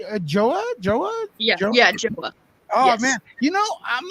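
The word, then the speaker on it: João: do oh oh yeah i have people who say yoa because they think it's like just like that the j is pronounced like a y or people who just say joe like okay that works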